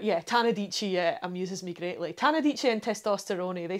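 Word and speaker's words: Tannadice: dreams as he refers to it is is tanadice now tanadice is spelled t-a-n-n-a and was once memorably uh pronounced by a football commentator as tanadicci well that's fantastic i'm not entirely sure who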